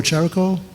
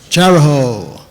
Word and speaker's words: Chariho: Is it Chariho or Charico? Charico? Anybody know? Chariho. That's what I said, Chariho.